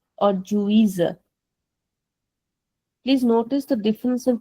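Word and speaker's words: juíza: But in the next one the Z is coming in the middle of the word. So it has a default pronunciation there.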